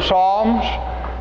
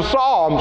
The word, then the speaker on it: Psalms: trying to pronounce the Psalms well well why do you say Psalm and it starts with the P well it's that that Greek letter is P s and the P is silent we have words like